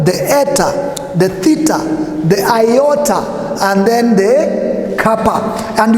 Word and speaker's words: iota: So the pronunciation is iota, or from the word thin. The way you pronounce thin, that's how it comes in.